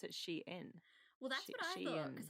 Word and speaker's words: Shein: if i'm wrong but everything i've read and watched says sheen so cool let's go